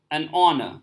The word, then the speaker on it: honor: it is our Union but in this case an honor so H is it remain silent and the pronunciation is or it's evolved in some and